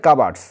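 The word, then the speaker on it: cupboards: পেল একটা খাট দেখতে এন্ড টু কাভার্ডস এর উচ্চারণটা হবে কাভার্ডস কাভার্ডস মানে একচুয়ালি আলমারি ঠিক আছে তো ভিতরে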